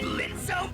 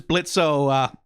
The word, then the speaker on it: Blitzo: Oh, is that Blitzo, my sensor spotter bear? I guess the kitties are still running away from you, huh? The O is silent now.